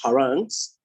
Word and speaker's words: harangues: Extemporaneous and oral harangues, that's how it's pronounced, harangues, will always have the advantage over those that read from a manuscript.